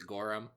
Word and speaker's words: Goram: Adam T Goram yes I I believe he pronounces it gorum uh Adam what's this what's this what's this